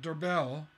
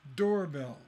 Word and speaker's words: doorbell: It's not doorbell, it's doorbell, right? So door is the stress and bell is unstressed.